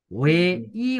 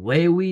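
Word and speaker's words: 회의: अब हामीले होए उही भन्न मिलेन, होए ई भन्नु पर्यो। यसलाई हामी के उच्चारण गर्नु पर्यो, अब हामीले ई भन्नु पर्यो, होए ई, होए ई, होए ई भनेको बैठक।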